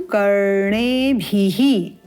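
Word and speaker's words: करणेभिः: द्र भद्रं करणे भी ण का उच्चारण न और ण में भेद हमने पहले भी समझा है उच्चारण में न ण यहां पर है ण भद्रं करणे भी उत्तम श्री ण याम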